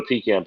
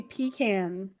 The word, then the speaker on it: pecan: So you can't put a pecan pie here because it will be gone. Oh yeah. Totally so Kevin, you say pecan or pecan?